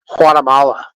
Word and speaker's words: Guatemala: from Guatemala you know the proper way to say Guatemala is not with a G it's actually with an H Guatemala that's how you're supposed to say it I'm from Guatemala